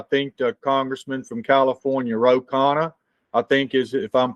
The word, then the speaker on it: Ro Khanna: If you recall, I discussed it with you because we had, I think, the congressman from California, Ro Khanna, I think is, if I'm pronouncing his name correct.